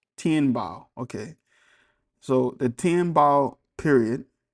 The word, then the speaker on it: Tianbao: Pronunciation today. Tien Bao. Tianbao.